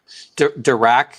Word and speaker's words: Dirac: curious to see how direct i i don't know how you're supposed to say that dirac is say that's how that's how they say it so they're actually there's